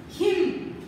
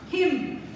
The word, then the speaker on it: hymn: Fourth one, that is a hymn. That is a rhythmic sound. Hymn. H-I-M is also pronounced hymn only.